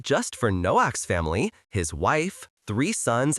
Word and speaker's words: Noach: Say the name with a hard c sound at the end. Noak. Have you ever helped your grown-up start something new?